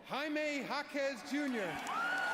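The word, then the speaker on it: Jaime Jaquez Jr.: Wendy 23 NBA draft the Miami Heat select Jaime Jacquees Jr hey good pronunciation go yo he looks good in that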